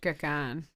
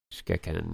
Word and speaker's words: Xkeken: Yeah, because all the X's are sh sounds, right? Yeah, it's Xkeken. Pardon? Xkeken is how it's spelled, how you spell right? it. Yeah, and it's pronounced Shkakan. Shkakan, yeah.